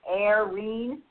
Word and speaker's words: Eirene: and I will tell you it's pronounced aene as if a i and yet right and